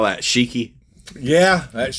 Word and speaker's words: Shiki: S-H-I-K-I. Would you call that Shiki? Yeah, that's Shiki.